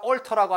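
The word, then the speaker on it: altar: 재단을 갖다가 얼터라고 합니다. 얼터. 얼터. 재단은 높은 곳에 있잖아요. 알트. 그런데 여러분 나중에 이 단어를 배울 거거든요. 알터. 알터 똑같거든요. 발음은.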